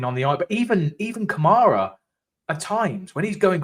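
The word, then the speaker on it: Kamara: I mean, for starters, they get his name wrong. For starters, they call him Cameron. Camera. It's defin definitely Kamar but like I don't understand why no one talks about him ever.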